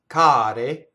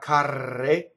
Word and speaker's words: care: Notice that the R in care is not rolled. Why? The R is surrounded by vowels. So remember, an R has to touch a consonant for it to roll. So it's not carre, right? Carre would be train boxcars. Care are plural things that are dear or expensive. Care, right?